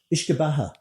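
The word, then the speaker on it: uisce beatha: Ishkabaha.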